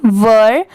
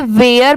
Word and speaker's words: were: ये first paragraph है, देयर, THERE, देयर, WERE, वर। बहुत सारे लोग इसे वेयर पढ़ते हैं, बट वो रॉन्ग होता है। इसकी प्रोनाउंसिएशन है वर, ठीक है, WERE, वर।